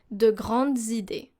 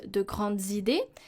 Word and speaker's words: de grandes idées: So here, the Z sound in Les Belles Îles and De Grandes Idées is very important. Why? Because if we listen to it, if we don't pronounce the liaison, it will sound like it's a singular noun and adjective.